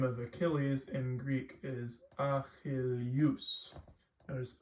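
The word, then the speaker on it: Ἀχιλλεύς: So for example, the name of Achilles in Greek is Achilleus. Notice Achilleus. It's like it's almost pronounced like this, Y-O-U, U.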